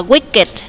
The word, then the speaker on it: wicked: À, thì khi mà nó là tính từ thì mình không có phải đọc âm tờ giống như mấy chữ kia đâu. Mặc dù nó tặng cùng là chữ K kệ nó, nhưng mà đọc là wicked. Từ này có nghĩa là